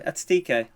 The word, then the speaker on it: Ekitike: Ekitike.